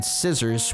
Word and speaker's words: scissors: So the C after the S is silent. Scissor. So one of the S's is silent.